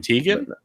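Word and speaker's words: Teigen: the switch yeah Christy Teegan really wants Animal Crossing on her switch as I'd never do how to say her last name Tegan yeah that's how you okay how did you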